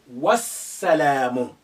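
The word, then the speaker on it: والسلام: wa and the peace the alif also becomes silent you say wassalamu notwa now the alif is silent because it's not at the beginning there is a letter before it the lamb is silent because we have the sun letter after it which is current shadda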